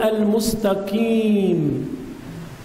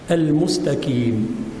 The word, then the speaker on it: المستقيم: إذن اهدنا الصراط المستقيم، قي قي قي، وليس المستكيم.